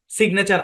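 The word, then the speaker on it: signature: এখানে বললাম আর কি যে আলাদা সিলেবলে জি এন দুটোই উচ্চারণ হবে ওই যে একটু আগে যে উদাহরণ গুলো আমি দেখাইলাম হ্যাঁ সিগনেচার আলাদা সিলেবলে জি এন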